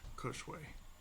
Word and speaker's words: Cushway: Cushway. Like Kush.